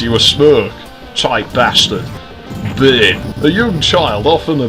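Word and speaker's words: bairn: Bane. A young child, often a baby. Terry's got a bane. Sometimes pronounced burn.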